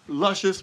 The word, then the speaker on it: Lucious: your full name luscious your middle name is luscious it's lucious but i pronounce it luscious everybody calls me luscious